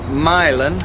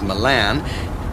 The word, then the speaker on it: Milan: And then from Milan, which parenthetically most people tend to mispronounce as Milan, you would stay on the 250 through Norwalk and...